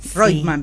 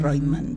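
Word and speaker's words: Reutemann: Reutman, perdón. Reutman en vez de Reuteman. Claro. Eh, sí, la pronunciación me enseñó que debo de decir Royman, pero no puedo decirlo porque popularmente está conocido de otra manera.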